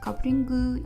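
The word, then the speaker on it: カップリング: I think it's clear that kapringu is just coupling, but in Japanese pronunciation.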